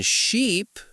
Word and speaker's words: sheep: In ship, we use a short I sound. In sheep, it's a long e, right?